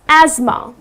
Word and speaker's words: asthma: after ma but it's not optimal the correct pronunciation is asthma okay so that's that correct pronunciation another word